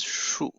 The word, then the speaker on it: 束: 我们没有学这个新字 so this one, this part, this word pronounces shu. Su or shu.